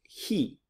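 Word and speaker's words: χι: the next one it looks like an X but it has a CH sound it's he the next is see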